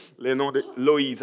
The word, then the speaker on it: Loïs: prononcer le nom de Loïs. Alors, tous les voyelles, toutes les choses sont prononcées dans ces mots-là. En portugais, c'est Loïd, avec un D à la fin.